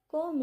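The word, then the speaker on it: comb: कोम it properly. इसको कोम नहीं बोलना क्योंकि बी साइलेंट होता है।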